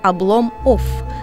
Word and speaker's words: Обломоff: Название спектакля читается как «Облом офф» с двумя английскими «ф» на конце, словно эмигрантская фамилия или какой-нибудь алкогольный бренд.